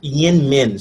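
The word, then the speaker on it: YInMn: It's pronounced yin min, something like that.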